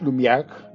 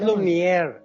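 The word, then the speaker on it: Lumière: De ahí también los hermanos Lumier y sobre todo Luis Lumiag, Lumiag que lo pronuncié bien, él se anima y cuando ve es Lumier, Lumier tal y como suena.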